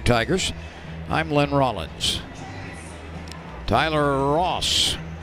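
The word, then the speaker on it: Ras: Tyler Ross, last name spelled R-A-S, but pronounced Ross, working for Alabama.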